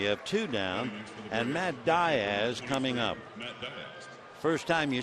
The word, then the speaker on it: Diaz: Center and we have two down and Matt Diaz coming up first time you see the name you figure it's Diaz but he pronounces it Diz so Matt hitting 278 he has a home